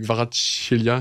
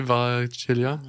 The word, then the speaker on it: Kvaratskhelia: C'est Kvaratskhelia, tu le prononces mieux que moi en tout cas, c'est pas mal. Tu peux essayer Kvaratskhelia?